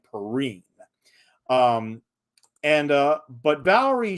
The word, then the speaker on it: Perrine: superman the television announcer always mispronounced her last name as perrine no actually it's valerie perrine um and uh but